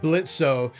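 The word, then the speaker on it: Blitzø: The plot of Helluva season 1 is that our main character, Blitzo, the O is silent, runs a mercenary company that specifically deals with disgruntled sinners who want revenge on people still living in Earth.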